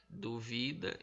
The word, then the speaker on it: duvida: Então, dúvida é o du, é a palavra proparoxítona. Duvida, o vi, é a palavra paroxítona, porque o da que